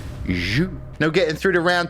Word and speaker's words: jus: It's pronounced jus.